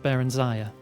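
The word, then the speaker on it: Barenziah: Yes, her name is pronounced Baranziah.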